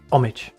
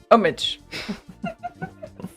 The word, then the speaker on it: homage: The H is silent. Homage. Homage.